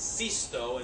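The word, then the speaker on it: Sisto: for cisto in Italian it's not 6us in Italian it's cisto and so the capella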